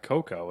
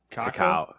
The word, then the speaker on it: cacao: It's not cocoa. It's cacao. Cacao.